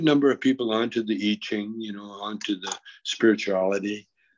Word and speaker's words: I Ching: They pronounce I like E. Okay. It's a Chinese pronunciation. E. Right, good. So it's the I Ching.